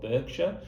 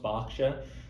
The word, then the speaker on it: Berkshire: program in a place i thought was called berkshire i spoke to over 80 people and it was only number 83 that let me know it was actually pronounced berkshire um i've introduced a candidate called what i